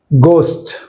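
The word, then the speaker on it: ghost: హెచ్ is silent air గోస్ట్ గోస్ట్ అంతేగాని ఘోస్ట్ అనకూడదు గోస్ట్ నైట్ ఇక్కడ జీ హెచ్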